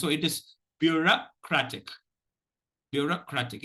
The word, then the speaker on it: bureaucratic: So the word for today is bureaucratic. Bureaucratic, with the primary stress on crat, on the third syllable crat, and the secondary stress on the first syllable bio.